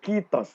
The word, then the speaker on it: kiitos: Ya, tapi I-nya kan ada dua, jadi K-I-I-T-O-S. Jadi I-nya harus panjang, jadi kiitos.